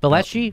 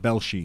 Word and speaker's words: Velshi: Velshi? Velshi.